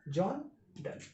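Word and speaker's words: John Donne: ठीक है, लेकिन इसका प्रोनाउंसिएशन क्या है, जॉन डन।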